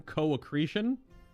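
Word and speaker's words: co-accretion: late 1800s the co accretion oh is it co-ecretion Theory that's how you pronounce that word c o dash a c c r e t i o n co-ecretion the exact origin of this hypothesis is unknown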